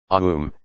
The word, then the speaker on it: Om: connection to the divine although it sounds like a one-syllable word om is broken down into four syllables each